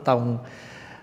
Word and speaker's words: tông: chữ tông là gì chữ tông mình có hai cách đọc Thiền Tông cũng được hay Thiền tôn cũng được tôn hay là tông nó cùng một cái nghĩa là Tông chỉ hay